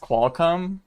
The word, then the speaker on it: Qualcomm: I know it's pronounced Qualcomm. No, not Qualcomm. Qualcomm. But because I originally literally thought it was called Qualcomm, it's probably gonna be something that's gonna be a meme on this channel forever.